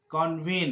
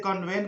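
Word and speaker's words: convene: कन्वीन कन्वीन। कुछ लोग इसको गलती से कन्वेन पढ़ते हैं जो कि गलत है, इसको पढ़ना है कन्वीन।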